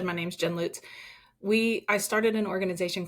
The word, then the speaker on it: Lutes: I'm your host, Jim Hoover, and joining us today is Jen Lutes. Did I pronounce that correctly?